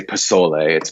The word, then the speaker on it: pozole: I love my pork pozole recipe in there, or I should say pozole. I know I was pronounced it. It's more of an S sound to it, even though it's spelled with a Z.